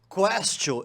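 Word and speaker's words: quaestio: Porque Castio lembra questionar, porque em latim se pronuncia questio, e em latim questio significa questão, significa pergunta.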